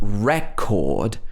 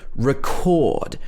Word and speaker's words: record: when it's a verb the first e is a schwa record we don't say record we say record for example i record myself speaking this is because we are stressing the second syllable the chord in this word so again in a